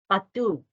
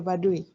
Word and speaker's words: Baduy: of residents, a case study of Sabah Budaya Badu. It's not correct. It's not pronounced correct. Continue. Yes, Sabah Budaya Baduy.